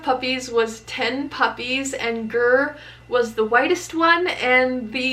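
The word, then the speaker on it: Grr: Her name is Gur. She is right here. And somebody asks how she got her name. So her name is Gur. People are always wondering how to spell it. It's just G-R-R.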